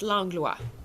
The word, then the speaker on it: Langlois: say it uh well in in french it's lang lua right but i add